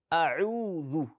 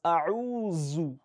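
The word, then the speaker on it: أَعُوذُ: Some people pronounce as A'uzu. That is Za. It's not Dhal.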